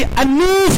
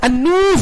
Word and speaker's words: Alnof: Orang Arab membacanya pasti An-Nuf katanya. Karena tidak ada sebelum nun itu alif lam, dia komariah. Ya kan? Alif lam setelahnya ada nun, itu pasti syamsiah. Maka orang baca An-Nuf katanya.